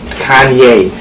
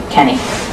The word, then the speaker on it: Kanye: a little bit China I'm sorry Kanye I'm from Ohio we say Kenny that's how we pronounce it well okay where you're